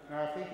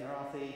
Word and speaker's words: Marathi: Marathi, yes, Marathi, Hindi, etc.